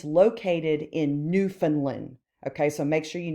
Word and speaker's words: Newfoundland: You pronounce it Newfoundland. I know it looks like Newfoundland, but it's Newfoundland.